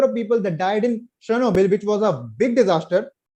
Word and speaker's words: Chernobyl: if you go back chernobyl or rather chernobyl uk pronunciation chernobyl and fukushima and three